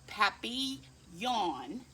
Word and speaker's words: papillon: like our neighbor's dog you say it like papi yawn in french it means butterfly isn't